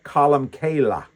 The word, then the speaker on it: Columcille: That's why Columba is also known, especially in Ireland, as Comcille or Columcille uh with the Irish accent.